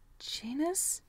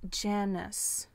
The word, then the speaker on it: Janus: You're Janus? The man scoffed. It's pronounced Janus. He pronounced it like Janus, like he was some sort of middle school librarian.